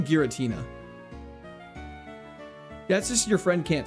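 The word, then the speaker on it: Giratina: What? Geratina. Yes. Geratina. That's a crime. It's definitely Gueritina.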